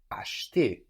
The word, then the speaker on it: acheter: To buy is acheter, acheter. Acheter. Or acheter. Acheter. So this is spelled A-C-H, no, which gives us sh, E-T-E-R. And that middle E, that E in the middle, is a bit swallowed.